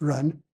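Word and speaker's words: 仁: For example, the term benevolence pronounced run in Chinese.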